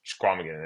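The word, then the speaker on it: Chequamegon: One of them is in Wisconsin, Michigan, wherever Squamigan is, Squamigan or let's hear you Schwamigan, say whatever that you again. pronounce. Yeah, Schwamigan.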